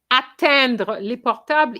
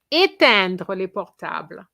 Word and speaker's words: éteindre: Nerol is not atteindre les portables, is éteindre les portables, okay?